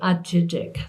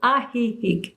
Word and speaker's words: Ajijic: It's spelled like an Ameri- In English it would be Ajijic. That's what my GPS says. Well, not really. It's Ajijic, and it's a sweet little village, very artistic.